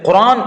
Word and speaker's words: குர்ஆன்: அடுத்து குர்ஆன் என்ற எழுத்தும் அதை உச்சரிக்கக்கூடிய முறையும். தமிழில் குர்ஆன் அந்த ஆவண்ணா வரணும். இதை உச்சரிக்கக்கூடிய முறையில் குர்ஆன் என்று தான் உச்சரிக்கணும். குர்ஆன் என்றோ அல்லது குர்ஆன் என்றோ உச்சரிப்பது தவறு.